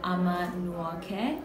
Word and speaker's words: Ama Nwoke: Who is the head designer, the lead designer of Ama Nwoke.